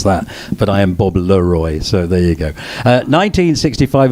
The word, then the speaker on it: Le-Roi: why because my name is french they couldn't pronounce it in england and that's as simple as that but i am bob leroy so there you go 1965 is also the